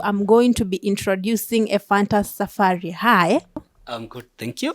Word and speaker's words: Ephantus Safari: So ningetaka kujua who is Ephantus Safari. Hata nimepronounce vizuri. Umesema tu vizuri.